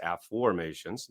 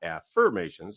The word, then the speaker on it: Afformations: the way that is I'm not saying it wrong I'm saying a new word for most of our listeners it's spelled AF f o r m a t i o NS a formations not affirmations everybody who's ever read